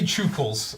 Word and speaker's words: Chukles: And it has to be Chukles, because they always spell it without the second C.